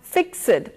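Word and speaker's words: fixèd: Now you will have noticed that I used the word F-I-X-E-D and pronounced it as fixed. Now this is not normally correct in conversation, but poets have what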